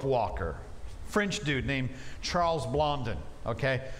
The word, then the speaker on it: Blondin: french dude named charles blondon okay now if he's french it's probably more like charles blonde but uh that's just weird i'm not gonna pronounce it that way so charles blondon the